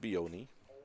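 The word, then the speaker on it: Bjone: strike Aiden beone beone spells his name BJ o NE e pronounced Bon Aiden is spelled a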